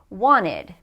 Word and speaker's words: wanted: verb want but then when we add the Ed we have to add another syllable and when that happens we often drop the T wanted this is what I